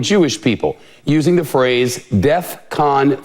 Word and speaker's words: DEFCON: not the point but that's not how you say it I know it's not the main issue here I know that but it's Defcon 3. all right not Defcon three and Defcon sounds like